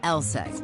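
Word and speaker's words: LSEG: be a bit misleading take ours for instance pronounced lsex AKA London Stock Exchange group sure we're in London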